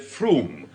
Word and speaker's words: Frome: On Wednesday, I went down to Frome in Somerset to find out why everyone pronounces it Froome.